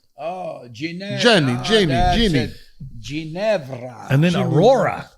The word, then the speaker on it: Ginevra: Genevra. Oh, Ginevra.